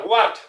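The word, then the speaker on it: ورد: Donc c'est ça, ward, hein, ward. Cela veut dire rose, rose. Rose, hein, ça cela veut dire rose, ward, ward. Voilà, ward, ça s'écrit wardu.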